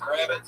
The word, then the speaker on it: Gravit: Oh, so my last name is Gravit, right? And people just kept pronouncing it incorrectly. At the open mics, they're adding like Z's on it, Gravit and shit. Well, I'm not fucking letting it. It's just Gravit, phonetically sound.